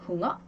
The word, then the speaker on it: Hunger: 그럼 이 우 다음에 자음이요. 몇 개가 있나요? 이렇게 2개가 있어요. 2개가 있기 때문에 요 흥어는 뒤에 n개라는 2개의 자음이 있기 때문에 짧게 발음을 해줘요.